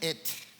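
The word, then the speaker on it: את: Y se pronuncia et. Bueno. Siempre dice, en el principio creó Dios y ponen esta palabra, et.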